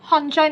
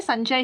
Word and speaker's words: संजय: लेकिन यहां पर तो दंतः है। लेकिन अगर हम इसको इंग्लिश में लिखेंगे तो संजय प्रोनाउंस करना पड़ेगा। तो लोग हंजय नहीं बोलते। संजय ही बोलते हैं।